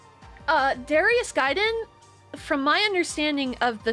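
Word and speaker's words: Gaiden: the 1994 game Darius G giden giden it's pronounced giden mallerie come on you know this uh it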